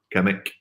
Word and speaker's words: Kimmich: I like doing the Derek Ray pronunciation here. It's Joshua Kimmich, who is just an